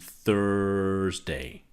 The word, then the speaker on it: Thursday: The two sounds here are Tuesday and Thursday. So it's the two sounds. Chew, thur.